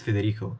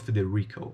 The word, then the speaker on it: Federico: My name is Federico. Not Feder Rico.